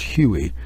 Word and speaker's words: Huey: the H1 hu-1 well you have Hui which is if you pronounce it it's Huey and that's how the aircraft acquired the Huey uh name but the aircraft